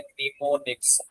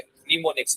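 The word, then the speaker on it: mnemonics: या इसके लिए स्पेशल एक टर्म यूज़ होती है जिसको हम कहते होते हैं निमोनिक्स। ये एन साइलेंट है। निमोनिक्स इसको कहा जाता है।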